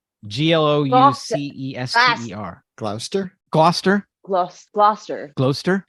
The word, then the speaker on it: Gloucester: Proprietors of the city Steam Mills in Gloucester glister I don't know if I'm pronouncing that right g-l-o-u-c-e-s-t-e-r Gloucester Gloucester Gloster Gloucester right with the dialect you got to